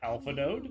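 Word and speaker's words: Alphinaud: The right way to say the character's name is Alpha No. If you still pronounce it in your head with the ending of Nod, we don't blame you. Sometimes it's just easier if you read this name as Alpha Nod.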